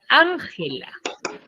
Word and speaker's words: Ángela: Entonces, por ejemplo, yo tengo la palabra Ángela. Tiene 3 sílabas. Llega hasta las esdrújulas. Nada más. Entonces, ¿dónde tiene la mayor fuerza de voz Ángela? En an.